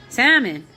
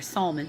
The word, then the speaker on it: Salmon: Salmon, or Salmon, however you want to say it. It's spelled like salmon, the fish.